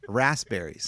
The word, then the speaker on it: raspberries: But it has a P in it. It also is raspberries, not raspberries. Like with a Z?